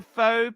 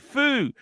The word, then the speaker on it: faux: What's a faux patina dial? I hear you guys talk about it. Excuse spelling. That means a fake, faux, foo. F-A-U-X would be how you spell it, just so you know, cheese.